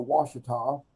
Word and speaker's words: Ouachita: it to be spelled w-a-s-h-i-t-a well we have a river too you know the ouachita but it's spelled o-u-a-c-h-i-t-a and so yeah so uh we're called washita because there is this